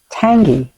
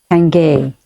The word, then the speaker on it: Tanguy: And I like Tanguy. Tangay. I don't know how to pronounce his I think name. it's Tenge.